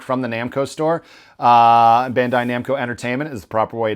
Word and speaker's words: Bandai Namco: believe $300 direct from the Namco store uh Bandai Namco entertainment is the proper way to say it